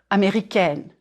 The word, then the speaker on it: américaine: If you are a woman, je suis américaine, américaine. Américaine. Flatten your tongue on the N and close it, N. Here, try this. Say egg, and then N. Américaine.